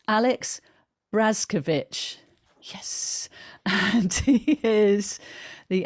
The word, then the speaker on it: Brazkiewicz: with my guest now i need to actually pronounce this correctly because um he's just um um corrected me it's alex brazkovich yes and he is the acupuncturist and osteopath